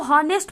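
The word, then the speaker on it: honest: इसमें क्या है, जो यच जो है ये साइलेंट है। वैसे तो ये इसको हॉनेस्ट पढ़ेंगे, बट यहाँ पे जो यच है ये साइलेंट है, और ये जो स्पेलिंग शुरू होती है यहाँ से उच्चारण ये ओ से शुरू होती है, ठीक है, और ओ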